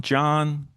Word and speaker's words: Can: It's pronounced like a J in the Turkish language. So it's Khan would be John, right? Is it John? I guess guess it's not Yan, right?